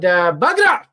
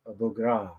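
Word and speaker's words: Buğra: It's interesting, I even had Bagra. That's how you say his name, right, Kevin? Maybe that's why he never gets back to me. I think actually it's Bugra.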